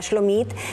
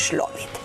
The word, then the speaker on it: Shlomit: Me llamo Shlomit. ¿Ah? Así se pronunciaría en Israel, en realidad, Shlomit. Pero como aquí no hablamos en agudo, sino que en grave, finalmente es Shlomit.